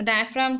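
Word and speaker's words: diaphragm: ये है डायफ्राम, डायफ्राम उसमें जी साइलेंट है, ठीक है। ये डायग्राम वाला डायग्राम नहीं है, ये डायफ्राम है, ठीक है।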